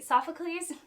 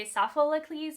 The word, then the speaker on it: Sophocles: bane of my existence because I say esophagles but I have an extra syllable in there when I say it like that so it's soft soft